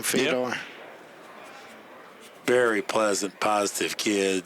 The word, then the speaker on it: Fedor: Is that how you pronounce his name, Fedor?